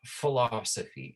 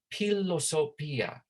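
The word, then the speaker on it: philosophia: this pillow now remember there's this ph it's not f in our in our language right we say right philosophy it's not philosophy it's pilosopia right they did use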